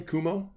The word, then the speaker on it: Cuomo: How do you pronounce his name? Cuomo.